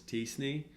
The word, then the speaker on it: t-SNE: most of the time folks just call this tea Snee or at least that's how I've heard it pronounced or you know just